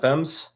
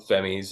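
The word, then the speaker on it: Femmes: I met her um before I pronounced fem right um and how did you pronounce it before like fies I'm pretty sure they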